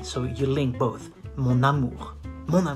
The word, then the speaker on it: mon amour: You say mon amour. You do the liaison. Mon amour. Why? Because it ends with an N and the next word starts with an A. So you link both. Mon amour.